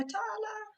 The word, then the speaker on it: Talia: t t and or tala it's spell like Talia but pronounce like Tyler oh okay I just